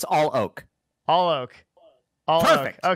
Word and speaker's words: Alok: No, it's Alok. Alok. Devin. Kanojia. Devin. It's easy, buddy. It's not all maple. It's all oak.